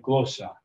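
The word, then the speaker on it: γλῶσσα: axons and syllable okay this word is closer I'm trying to make my voice we're not going to be trying to do that we're just going to put stress on it we'll say glosa there's two ways to pronounce that glosa or glosa you're just going to put a pitch Accent on on that word with the circumcise notice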